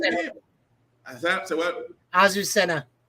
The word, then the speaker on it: Azucena: Azucena. Azucena.